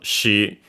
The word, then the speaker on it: し: So it's more sh than SH and so she but uh you can uh pronounce it as uh your usual she as in she and it will be fine just uh if you